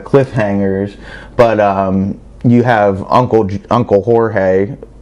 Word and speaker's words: Jorge: But you have Uncle Jorge, which some people it's okay to pronounce as George, because if you go back to the 80s in South Florida, everybody didn't understand or choose to use people's proper pronunciation.